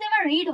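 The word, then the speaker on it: read: কিন্তু এর উচ্চারণটা এই সেকেন্ড ফম আর থার্ড ফমের উচ্চারণটা হবে রেড।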